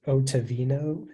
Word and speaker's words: ottavino: The word is just pronounced Ottavino.